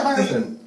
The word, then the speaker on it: Hierophant: Is that what it's pronounced as? Hierophant? Yeah, Hierophant.